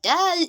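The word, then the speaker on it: دال: means the song so when you are pronouncing your letter dal the tip of your tongue would meet the upper front suit note here that it's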